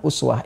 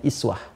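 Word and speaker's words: أسوة: nah di bab qiraat bacaan Uswah ini itu bisa juga dibaca dengan iswah ya kan iswah jadi ada dua cara baca di sini bisa kita baca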